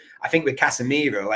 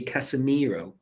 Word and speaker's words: Casemiro: When he played at Sao Paulo, do you know his name isn't actually Casemiro? It's actually Cassie with an I, Miro.